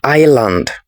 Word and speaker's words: island: The S is silent, so it is island.